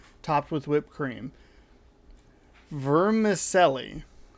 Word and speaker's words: vermicelli: topped with whipped cream vermicelli v e r m i c e l l i verm vermicelli now i i'm sure that it's supposed to be pronounced a little smoother than that like americans pronounce things